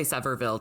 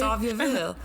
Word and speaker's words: Sevierville: We'll just say Sevierville, Tennessee. I think it's something like that. Yeah, I doubt it's French. I doubt they pronounce it the French way. Sevierville.